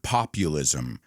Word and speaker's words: populism: But I want you to be really careful with the pronunciation of the word populism. Populism. There are two difficult parts, the U, populism, and the ism.